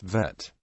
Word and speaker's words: Vet: This letter is named Bet and Vet, following the modern Israeli Hebrew pronunciation, Bet and Vet, in Israel and by most Jews familiar with Hebrew, although some non-Israeli Ashkenazi speakers pronounce it Bais and Vase.